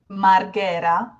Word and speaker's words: Marghera: And the name of the town where they use this the most is, in standard Italian, Marghera, 2 R's, Marghera. And they don't pronounce it like this. They say Marghera, Marghera.